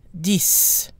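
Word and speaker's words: dix: another exception however is the number ten where the X is pronounced and sounds like an S dees desus some of these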